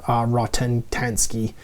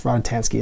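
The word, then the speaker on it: Rockatansky: It's not Max Rotentanski. Rodentanski? Yes, Rodentanski is how you pronounce his name.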